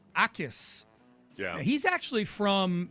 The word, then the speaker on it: Jacas: It's spelled Jacas. It's Gabe Akis.